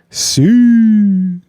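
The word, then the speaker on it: Siu: I met up with my boy Sue S.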